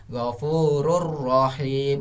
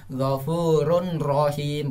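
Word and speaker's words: غفور رحيم: so itu ditambah tasdid jadi gofururohim bukan cara bacanya seperti ini enggak ya Ghofur unbroken bukan seperti itu tapi yang Betulnya gofururohim gofururohim Nah itu adalah cara bacanya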